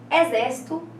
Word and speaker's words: exército: Depois, exército e jockey. Exército, né? Qual que é a sílaba acentuada? A sílaba tônica, né? Acentuada. É a antepenúltima, né?